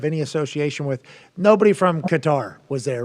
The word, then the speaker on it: Qatar: association with nobody from Qatar was there right we don't know uh nobody said they're from I think it's pronounced uh cutter I believe you're right that's right yep I do